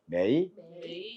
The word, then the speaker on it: 每: "mae-ja", " mae-ja", "mei" 입니다 . 메이 . 이것 이 세 번째 음 입니다 . 끝 부분 은 3 성 으로 유지 되지만 , 시작 부분 은 2 성이 되므로 " 메이 " 라고 발음 해야 합니다 .